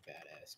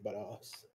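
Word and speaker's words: Bada$$: see what else true badass does All American albums good Temptation and Devastator yeah yeah dude big fan of a big fan of the Joey buttocks that's actually how you say it badass yeah gotcha actually but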